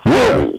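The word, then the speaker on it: Sitty: We spell it S-I-T-T-Y, City.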